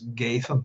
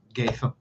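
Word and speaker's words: Ghadhean: I had thought that maybe the DH would be pronounced, as far as I know, like the letter thorn, so it'd be a th. So Gadhean, which is interesting because I didn't get it.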